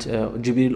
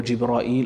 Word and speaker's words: Jibril: great angels, Jibreel, Mikael, and Jibril or Jibra'il or Jabra'il, these are different pronunciation, Mika'il or Mikal, and Israfil, and Malakul Maut, which according to some Mufassirun, his name is Azra'il also.